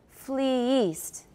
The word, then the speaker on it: fleeced: flee east all right how is that different from f-l-e-e-c-e-d fleeced means to flee somebody that's a liu so flee east is one pronunciation and if it's f-l-e-e-c-e-d it's fleeced fleeced everyone fleeced fleeced